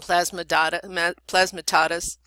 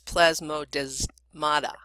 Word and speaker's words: plasmodesmata: chloroplast cell walls and plasma Dada plasma torus and centrosomes lysosomes and centrioles actually that's plasmodesmata i'm sorry about the pronunciation